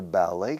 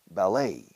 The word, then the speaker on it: ballet: She was in her ballet class. Se dice ballet, eh? Para ballet, escucha, ballet. We stress the last syllable, a little bit of a French style with English pronunciation.